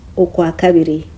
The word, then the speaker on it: Okwakabiri: February o Okwakabiri. O Kwa Ka Bi. Can you remember how to pronounce R-I? R-I. Ri. February in Rukiga is Okwakabiri.